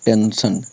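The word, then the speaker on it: tension: जाएगा टी एन टेंस आई ओ एन को पढ़ेंगे हम अ से मतलब हो जाएगा टेंशन ठीक है वैसे ही सेम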